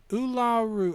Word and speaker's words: Uluru: But I think nowadays it's the proper thing to try and use the original local pronunciation. Uluru? Ularu.